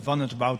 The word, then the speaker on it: van het Wout: So you pronounce it as van het Wout, my family name.